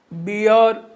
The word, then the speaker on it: bear: बी और एक बात और ध्यान दीजिए कि आर को पढ़ा नहीं जाता है, लिखा तो जाता है, लेकिन जो हम लोग जब उसका प्रोनाउंसिएशन करते हैं तो आर को नहीं पढ़ते हैं। बियर, देखिए यहाँ पे ई